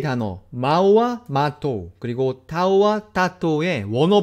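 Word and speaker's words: tātou: 그럼 여기서부터는 그 4개의 단어 마우와 마토 그리고 타우와 타토의 원어 발음으로 한번 들어보시겠습니다.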